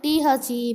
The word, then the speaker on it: the: Oh, there is a common confusion how to pronounce this word. The word is pronounced the before vowel sounds. But before consonant sounds, it should be pronounced as the.